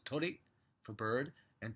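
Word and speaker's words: 鳥: But the difference is that tori, I might not be able to do it justice, bird, there's only one I at the end, whereas tori for the pi symbol temple, you know, poles, have a double I.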